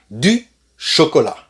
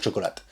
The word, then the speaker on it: chocolat: et attention aussi chocolat le thé de chocolat ne se prononcent pas c'est pas le chocolat tu vas arrêter de dire chocolat's et chocolat la chocolat d'accord est